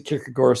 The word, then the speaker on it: Kierkegaard: It looks like Kierkegaard, but the Danes pronounce it Kierkegaard, so take your pick, but it doesn't matter.